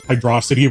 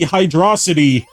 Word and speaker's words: Hydrocity: uh he almost pronounces hydrocity wrong it's clearly supposed to be hydrocity as upon on velocity because it's speed it's it's fast why would it be hydro city it's not a city it's ruins why